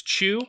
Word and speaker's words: Chu: be talking about is Chu and this is C H you now it is a continuation of qu the comic but that is spelled like chewing and it's just playing